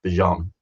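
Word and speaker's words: Bijan: And it's not Bejian Robinson anymore. It's Bjon.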